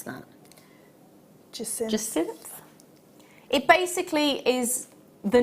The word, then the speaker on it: Jacinth: The name, which I could not pronounce, how do you pronounce that? Jacinth.